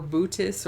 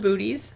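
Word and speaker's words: Boötes: Our home is Epsilon Booties." Yeah, Bootis. Epsilon Booties. I'm just going to say it like that. I know that's not how it's pronounced.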